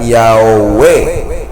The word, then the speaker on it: Yahweh: Él dijo: el nombre místico que se llama tetragrama se pronuncia Yahweh, ¿sí?